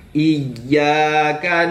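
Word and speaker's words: إياك: Iyyaka na'budu wa na'budu wa Kemudian huruf iya, ya yang bertasydid, kadang kita itu tidak memberikan tasydidnya pada tempatnya, langsung iyyaka na, tapi harus dimasukkan dulu, ditasydidkan, barulah diucapkan huruf ya-nya.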